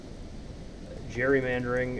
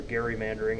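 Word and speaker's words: gerrymandering: just sort of basic Jerry mandering as it's been called or Gary mandering as it's properly pronounced I'm a bit of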